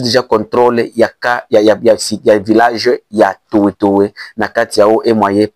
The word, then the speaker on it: Tuwetuwe: Bamususu basenga balobaka Toetoe, mais na kati ya prononciation ya monoko ya Kibembe ezalaka Toetoe.